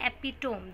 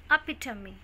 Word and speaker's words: epitome: Mostly लोग इसको क्या प्रोनाउंस करते हैं? एपिटोम. This is नॉट एपिटोम, this is अपिटमी. अपिटमी.